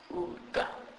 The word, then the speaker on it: uda: U is pronounced as oo, oo, and it is pronounced like the U in the English word put. For instance, uda, uda, which means hide something.